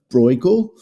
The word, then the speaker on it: Bruegel: always called in England Bruegel almost rhymes with bagel one of my favorite